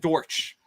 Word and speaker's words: Dortch: on betting on Greg Dorsch of the Arizona Cardinals he's a wide receiver his name is Greg Dortch and it rhymes with porch I gotta get it